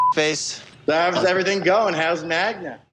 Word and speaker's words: Magda: How's Magda? I cannot believe that he does not know how to pronounce his girlfriend's name, so much so that all of his friends are calling her Magna.